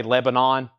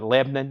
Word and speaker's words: Lebanon: Nashville and Lebanon or as some people up north would say Lebanon we call it Lebanon it's one syllable if you're here from the south The Beatles Mofi revolver